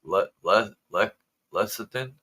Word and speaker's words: lecithin: Lecithin? Let me see how this is pronounced.